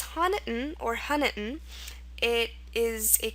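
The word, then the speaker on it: Honiton: England I believe yeah so it's pronounced htan or hiton what this little schah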